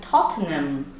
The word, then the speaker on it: Tottenham: And that's why it's so hard, because we learned that the H sounds like h, but it doesn't in this word, apparently. So it's like Tottenham.